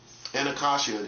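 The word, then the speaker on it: Anacostia: Anakashia is how it's pronounced.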